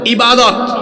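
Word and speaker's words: عبادة: মূল জায়গায় ধরছি তো আপনাদেরকে বলেন ইবাদত শব্দটা কি এটাকে আমরা আরবিতে এভাবে উচ্চারণ করি ইবাদাই ইবাদা শব্দের অর্থ কি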